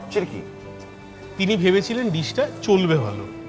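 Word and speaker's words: Tschirky: এবার সেটা খেয়ে কী হয়েছিল জানা নেই, শেফ যিনি ছিলেন, শেফ চিরকি, চিরকি, চিরকি চিরকি, মানে উচ্চারণ হচ্ছে TCHIRKY, চিরকি।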